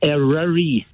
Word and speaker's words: Eryri: It's Eryri. Eryri. Spell it.